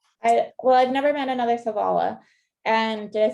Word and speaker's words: Savala: And her maiden name was Savala, which was my middle name.